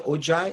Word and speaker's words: Ojai: She's up in, I think, Ojai. Is that how you say it? Ojai? Ojai.